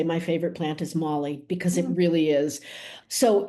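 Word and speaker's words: moly: One single L and it's Molly.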